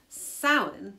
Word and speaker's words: Samhain: So according to the Irish language pronunciation website, Samhain is how this word is pronounced.